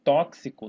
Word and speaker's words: tóxico: E tinha, por exemplo, tóxico. Tóxico também. Isso tem um som de KS, então esse X aqui é um dífono, tá?